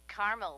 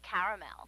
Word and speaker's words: caramel: please like it in caramel actually you said Carmel when it's pronounced caramel can't we just call it yellow no everyone